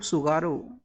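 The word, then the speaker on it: Tsugaru: State of सुगारो भी यहां पे साइलेंट होता है।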